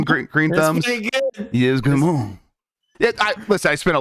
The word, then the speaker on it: Yves Guillemot: And I learned the key to pronouncing things with a French accent is just mostly let your mouth melt halfway through the word.